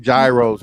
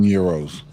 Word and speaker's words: gyro: ] every day though call it gyos that's not how you say it gyro that's what I I knew what he said if he saido wouldn't know what he was saying it is Euro I never had it